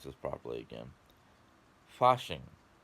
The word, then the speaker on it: Fasching: pronounce this properly again, Fasching. Not fashing, Fasching, which is a German holiday where the townspeople would get together.